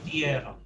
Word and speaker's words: dieron: An I is an E sound, so me dieron.